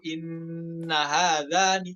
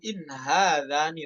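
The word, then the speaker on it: إِنْ هَٰذَانِ: Di riwayat lain hati-hati dibaca inna hadzani. Sebenarnya yang khilaf perbedaan kata ya, hati-hati itu karena misalkan kita sudah belajar riwayat lain ya, terus baca hafaz malah ke bawah ya, kata in-nya dibaca tasydid. Qalu inna hadzani, salah. Namun qalu in hadzani lasahiran dalam riwayat hafaz ya, dibaca sukun in-nya, bukan tasydid. Kemudian lanjut.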